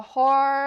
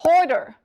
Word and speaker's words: hoarder: She laughed really hard and said, "Hoarder, not whore."